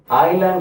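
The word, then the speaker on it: island: சொல்லிட்டே போலாம் ஸ்ட்ரீட் அடுத்து ஐலாண்ட் அப்படின்னும் போது என்ன ஐலாண்ட் அப்படின்னா நான் முதல்லயே முடிச்சிருந்தேன் ஐலாண்ட்னா தீவு அப்படின்னு அர்த்தம். இந்த எஸ் இங்க உச்சரிக்க கூடாது எஸ் சைலன்ட்.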